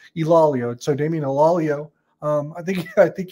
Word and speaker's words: Ilaleo: player answering questions, and he said it's Ilaleo. So he says people make it multiple syllables, not technically correct. Ilaleo.